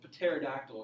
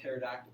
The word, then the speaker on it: pterodactyl: letter silent P or really like you don't pronounce Patera dactyl okay you just wanted to feel one to get the door for me it's funny you don't call it Patera doctor you called a pterodactyl please don't write the P there well hibbott